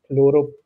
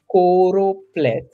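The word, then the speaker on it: choropleth: corop okay I kept pronouncing it as chlorop but it's corop which if you look a corop map is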